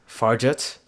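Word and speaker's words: Fargeat: Fargate. I think that's how you say it because I'm gonna look it up. Farjet.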